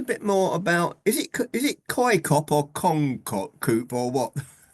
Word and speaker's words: COICOP: I have no idea how to pronounce it, but despite it being an acronym, call it COICOP.